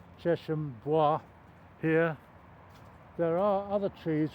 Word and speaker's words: bois: Now, it always grates a bit when I hear the word Cheshire Boys, because it's B-O-I-S-W, B-O-I-S, which in French is pronounced bois. So I think it should be Cheshire Bois, but I'm in a minority of one.